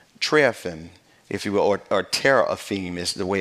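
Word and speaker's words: teraphim: interesting it's um triathan if you will or Terror of theme is the way it's actually pronounced and it's used seven times as image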